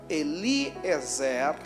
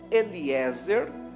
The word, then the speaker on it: Eliezer: inferência bíblica acredita-se ser Eliezer ou Eliéser como alguns também gostam de pronunciar mas no texto em